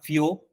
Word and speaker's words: fio: El fió no se debe tildar porque la mayor fuerza de voz está en la O y acá hay un dictongo, entonces se convierte en un monosílabo fió.